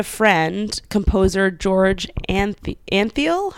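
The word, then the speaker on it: Antheil: composer George and the Anfield I think his name is how you pronounce it it's a n th e il received a patent for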